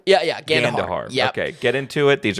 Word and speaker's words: Gandahar: uh the director Renee laloo and this is gandahar is that pronounced right yeah yeah Gand gandar okay get into it these are all adult